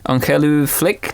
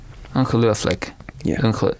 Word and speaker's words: ongelooflik: written this down um on flick no yeah that's good yeah so like as opposed to it's yeah that's that's good yeah maybe a five out of 10 for my pronunciation it's it's unbelievable it's a translation unb okay Uncle llick okay I I'll practice that